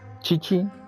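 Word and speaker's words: Qiqi: Chichi. Supongo que es la pronunciación en japonés o lo que sea el idioma origen de este juego. Kiki es Chichi. Ok, le diremos Chichi.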